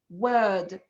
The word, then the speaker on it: word: in the british accent which is the r uh letter which is not pronounced in the british accent in many positions of the word for example i'm saying the word word can you hear it